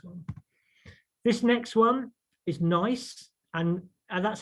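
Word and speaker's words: gneiss: a really nice one this next one is nice and and that's how you pronounce this uh gne iws um it's uh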